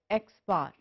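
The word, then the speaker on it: x̄: xn the sample mean is usually denoted by and pronounced as x-bar the formula is usually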